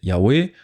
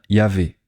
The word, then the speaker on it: Yahweh: Ils prennent la troisième lettre, la lettre Vav, et la prononcent comme un son V. Donc au lieu d'utiliser le son W, elles obtiennent Yahvé.